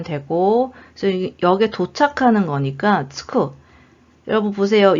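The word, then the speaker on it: 着く: 보통체에 붙여주시면 되고 그래서 여기에 도착하는 거니까 츠쿠. 여러분 보세요. 요 한자가 요거 키루라고 읽으면 옷을 입다고요. 츠쿠라고 읽으면 도착하다예요.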